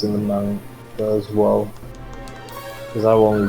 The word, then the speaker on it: manga: It's pronounced manga, you uncultured swine.